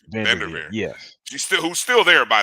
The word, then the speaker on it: VanDerveer: And actually, her mom played ball at Stanford in the early 90s for Tara I can never pronounce her name. Vanderveer.